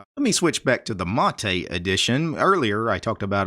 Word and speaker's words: MATE: actually an acronym it's m-a-t-e and it's pronounced mate the stress is on the first syllable and mate is actually